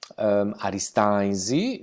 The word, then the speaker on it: Aristanis: interessanti avevamo scritto aristanis la pronuncia in sardo alla nostra pronuncia di oristano per il nome stesso è arista easy come vedremo in questo breve so che vi presenterò spesso le n all'interno dalla parola per noi spariscono arista nancy questa iii che